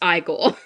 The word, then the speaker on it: Igor: I want to before before we start like properly talking about the movie, uh it it is pronounced Frankenstein and it's pronounced Igore.